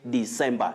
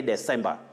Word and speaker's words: December: jacob zuma otiende jacob you say december don't say december muta thomas of kehan you